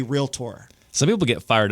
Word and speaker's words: realtor: it's not real tur right real tur it's real tour real tour real tour real T I think it's uncomfortable I don't like saying it but it sounds I don't know it's more fun to say realator I agree realator they should change it something